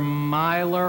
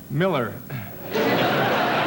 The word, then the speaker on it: Miller: offend you and mispronounce your name do we pronounce this Mr Miler or Mr merer Miller Miller yeah it's an unusual pronunciation isn't it